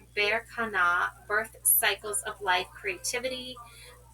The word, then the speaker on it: Berkana: Pronounced Berkana, birth cycles of life, creativity.